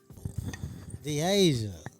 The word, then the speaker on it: Dasia: Dasia.